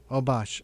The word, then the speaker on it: Obash: new yorker girls excellent all right uh oh bosh is that am i pronouncing your name right yeah oh bosh okay thank you for uh calling up today